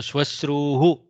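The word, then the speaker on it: श्वश्रूः: So there is a double repam, so you have to be careful. Shwashru. Okay. Shwashrur nirgachokti nyayah. Shwashrur nirgachokti nyayah. Very tough to pronounce. So shwashruhu.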